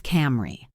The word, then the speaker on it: camera: Camera becomes Camry.